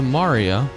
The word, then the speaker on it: Maria: It's pronounced Maria.